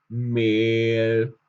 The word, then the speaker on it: Mehl: Wenn es um EH geht, dann sprechen wir durch das E durch das H auch lang aus. Also Mehl. Es wird lange ausgesprochen. Es wird lang ausgesprochen.